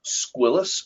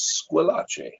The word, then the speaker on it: Squillace: Growing up, I went by the last name Squillis, although it is actually an Italian name and properly pronounced as Squillace.